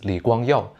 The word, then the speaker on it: 李光耀: By the way, in Mandarin, we pronounce his name as Li Guangyao.